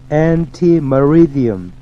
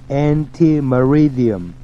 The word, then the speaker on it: ante meridiem: 그 다음 anti-meridiem, anti-meridiem 발음에 주의하세요.